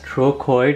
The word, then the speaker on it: trochoid: troid it's pronounced as troid with the CH having a k sound there's a specific Dimension